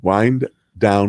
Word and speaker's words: Wind Down: Wind Down Wednesday. I know that you don't know how to pronounce that, and it upsets Morgan. It's wine. Wind down. It's not wine, because we don't always serve wine.